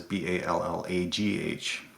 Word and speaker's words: Ballagh: But when my ancestors came over, it was Ballagh. So the Ah. Irish Balla, yeah. So the silent G there as well.